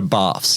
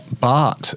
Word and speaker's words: Barthes: You never go baths cuz that's not his name. Mill or how do you say his name? Bart. Bart. Is a bath. B is closer to Bart than it is.